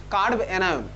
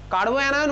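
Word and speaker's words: carbanion: লেখ কার্ব অ্যানায়ন, CARB, তারপর অ্যানায়ন, কার্ব অ্যানায়ন। কার্বো অ্যানায়ন বলে না, যদিও তোর প্রোনাউন্সিয়েশন দেখবি সবাই কার্বো অ্যানায়নই বলে, অ্যাকচুয়ালি নাম হচ্ছে কার্ব অ্যানায়ন, ঠিক আছে?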